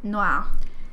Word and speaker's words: noir: Noir. Cat noir. You do not pronounce the R, but okay.